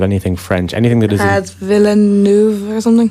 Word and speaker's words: Villeneuve: Villeneuve or something? Villeneuve. Anything that isn't bog standard English, I'm an atrocious pronouncer.